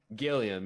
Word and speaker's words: Gilliam: Darian, how do you say your last name? Gilliam? Gilliam, yeah.